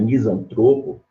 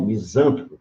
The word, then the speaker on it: misantropo: Se você não sabe que a palavra é misantropo, paroxítono, e não misântropo, proparoxítono, você pode cometer um erro aí, a gente chama de silabada, né?